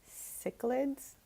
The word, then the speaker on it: cichlids: I think I tried hard to remember at least the first part because the C is not pronounced how I said it initially.